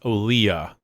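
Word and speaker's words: Olija: Yeah, apparently it's pronounced Olia.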